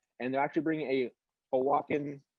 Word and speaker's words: Oaxacan: a Oaxacan parade, and they're actually bringing a Oaxacan, said it right that time?